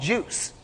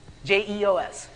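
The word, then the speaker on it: JeOS: OS is US using a technology called juice when of you guys want to take a guess at what juice is J EOS bonus points if you can spell it too j e j EOS just enough operting there it is two points all right just enough operating system so now I've slimmed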